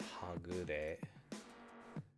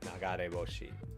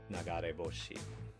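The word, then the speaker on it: 流れ星: It's not hagure. Yeah, like a comet. Or shooting star. Nagare boshi. That's right. Nagare boshi.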